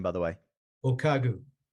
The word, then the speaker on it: O'Kagu: you say your last name by the way okagu okagu did I say it right that's correct yep